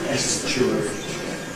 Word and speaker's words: Estuary: ‘reduce’ And this is certainly well-established in ‘Estuary English’ or rather English, and not therefore but .